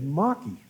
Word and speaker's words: Markey: do I see walking in was Senator Ed Maki you notice I pronounced the name correct I'm not and he